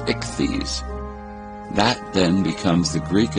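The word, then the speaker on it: ἰχθύς: In Greek, the word fish is spelled Iota Chi Theta Upsilon Sigma, pronounced ichthys.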